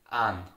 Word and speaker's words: einen: So you see how the word einem, einen is pronounced very differently in Austria with simply an.